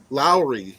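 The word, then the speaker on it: Lawry's: or Low's Low's okay you said it sounds like you were saying Larry's no l Lowry The Lowry's beef l a w r e y yeah low okay and then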